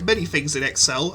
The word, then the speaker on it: Xel: Honestly, combat isn't much to write home about, which is a shame, because like many things in X-cell, I said it right that time, yay, I really do appreciate what it was going for, it was just pulled off really badly.